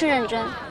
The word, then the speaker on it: Ren Zhen: Also, you pronounce my name wrong. It's Ren Zhen, get it?